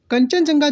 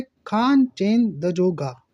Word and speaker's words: कंचनजंगा: तो कंचनजंगा जो है वो एक्चुअल में सही नाम नहीं है, इसका प्रोनाउंसिएशन सही नहीं है, ये अंग्रेजों ने दिया हुआ प्रोनाउंसिएशन है क्योंकि उनको आता नहीं था। इसका असली नाम है खान चेन दजोगा।